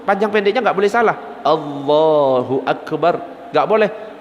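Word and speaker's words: الله أكبر: itu artinya sudah beda kalau Allahu akbar artinya Allah maha besar tapi kalau a-nya panjang Allahu Akbar itu artinya Apakah Allah Maha Besar makanya harus benar cara baca Jangan sampai salah Panjang pendeknya jadi dalam sebuah syair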